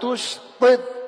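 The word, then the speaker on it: تشطط: Hati-hati bacanya. Nanti kalau pakai tak artinya lain. Wala tustid, pakai tak.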